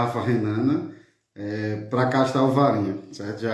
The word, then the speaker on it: Alvarinho: Existe uma certa disputa entre o norte de Portugal e a Galícia, né, na Espanha, porque lá também existe, lá chama de Albarinho, tem essa pronúncia espanhola.